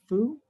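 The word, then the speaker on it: 蝠: The word for bat is fu. It sounds like the word for good fortune and blessings.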